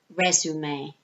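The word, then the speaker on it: résumé: they don't say CV they say uh resume if you look at the next if you look at the next slide here can you see where it says send resume it's a French word that's why we say it like that um so in British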